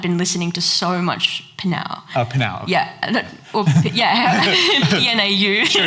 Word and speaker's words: Pnau: I hear like Pinau, or how do you pronounce that? Yes. Panau.